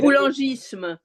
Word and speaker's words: boulangisme: Que lo pronuncia Mari. Este era el general. Le boulangisme.